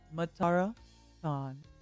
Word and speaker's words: Matara Kan: Even if I tried to pronounce it for you, I don't think you'd understand. So the closest English equivalent would be Matara Kan.